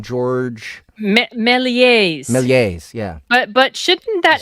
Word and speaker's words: Méliès: George Méliès. Méliès, yeah. But shouldn't that S Georges have been Méliès.